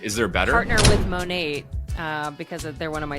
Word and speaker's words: Monat: So it's, Monat? Modern Nature is what it's technically called. So Monat. Yeah.